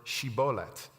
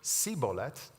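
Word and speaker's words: shibboleth: said know they would tell them to say the word shibolet the Ephram mites who pronounced the word siet would be discovered and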